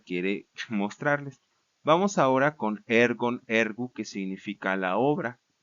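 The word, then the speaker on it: ἔργον: Y cuando el acento agudo está en la penúltima sílaba, este acento permanece invariable en toda la declinación.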